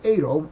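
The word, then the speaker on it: αἴρω: The word there in the Greek language is aero, aero, a I r o, a I r o, and really the accent is on the o, aero.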